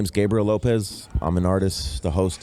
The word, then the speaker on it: Gabriel Lopez: to first ask you because your name keep pronounce it for me it's Gabriel Lopez oh oh the Instagram name yeah oh my